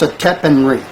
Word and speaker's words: Setepenre: And I think it's pronounced Setepenri. But Muriamon.